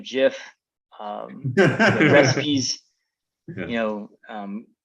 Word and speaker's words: GIF: do fave cat gifs the correct pronunciation of jiff um recipes you know